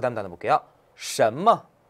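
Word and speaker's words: 什么: 什么? 什么? 네, 발음할 때 꼭 주의해야 돼요. 보세요. 션 같은 경우는 어때요? 권설음이에요. 혀를 올 때 많은 소리죠. 그리고 뭐는 경성이에요. 발음할 때 주의하세요. 什么.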